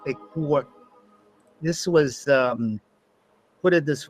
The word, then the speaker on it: Ekur: It's actually pronounced Ekur.